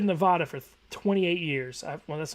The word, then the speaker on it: Nevada: Also, you mispronounce Nevada in every video.